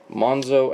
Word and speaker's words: Monxo: Remember how to spell that X. It's pretty much as you would say xylophone, so Monzo and Wolfwire.